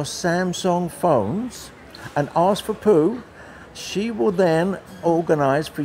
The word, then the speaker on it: Poo: How do you pronounce that? Poo. P-O. Yeah, yes. P-O-O.